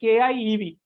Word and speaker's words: Kiev: Russia and Ukraine because kyiv is not the same as Kiev the pronunciation is different if the the ukraines have k y i b the Russian stock Kiev and their separate and